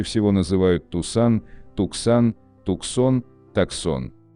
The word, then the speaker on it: Tucson: Так, внедорожник Hyundai Tucson чаще всего называют Tucson, Tucson, Tucson, Tucson. А на самом деле Hyundai Tucson назван в честь североамериканского города в штате Аризона и правильно произносится как Tucson.